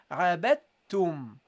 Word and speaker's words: عبدتم: So you say here, abattum, abattum, abattum. Okay? So you don't pronounce the dal. You go immediately to the ta. And that's because the point of articulation of the dal and the ta is very close. And for fluency, we drop the dal and go to the ta.